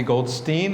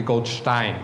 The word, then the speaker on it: Goldstein: I used to be called Goldstein, as I was introduced 35 years ago, until I realized after 3 weeks in Germany, I was saying my name wrong, and it's actually Goldstein, yes?